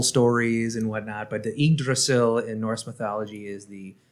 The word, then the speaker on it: Yggdrasil: number six uh yeah so number six is pronounced idrissil so in norse mythology as you know i know that you've heard through the marvel stories and whatnot but the igdrasil in norse mythology is the the tree of